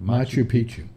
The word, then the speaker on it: Machu Picchu: How do you pronounce that? Machu Picchu.